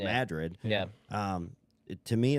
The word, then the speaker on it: Madrid: getting ready to save I've been calling it Madrid from minute I saw it and then I've been told like 12 times it's Madrid yeah um to me